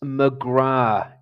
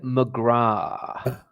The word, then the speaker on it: McGrath: It's McGrath. It's an Irish name. You do not pronounce the th at the end of it, all right?